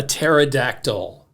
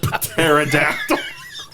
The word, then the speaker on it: pterodactyl: Taken by the pterodactyl. P is silent.